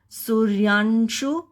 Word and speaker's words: सूर्यांशु: और यह श है सूर्याशु यहां पर यह र आधा है और य के ऊपर है इसलिए पहले य बोलने से पहले हम र का फनिक्स करेंगे उच्चारण करेंगे सुरयाशु इसका अर्थ है आधा